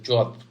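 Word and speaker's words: JWT: to install yeah okay okay what is the jot by itself it's something that typically looks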